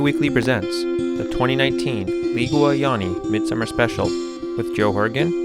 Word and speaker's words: Jāņi: ligue and mid-summer traditions or yani as she told me was the correct way to say it just a minute ago but also was one